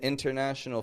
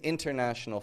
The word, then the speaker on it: international: This is an international flight, sir. It's a little more casual, a little bit less stress. So keep in mind the letters that we're doing this with are with the letters N and T. International. So that first way that I said it, international, it really does just sound a